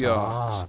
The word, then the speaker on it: SOKKV: You just say it like socks, like the things you wear on your feet.